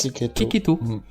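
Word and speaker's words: Checchetto: Marco est un dessinateur italien. Et donc ça se prononce Cecchetto. D'accord. Ah, c'était ça la surprise? Ah bah ouais, mais attends, le mec s'appelle Marco Cecchetto.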